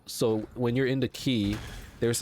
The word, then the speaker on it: Quay: Quay apparently you know Quay q-u-a-y is actually pronounced key I I didn't know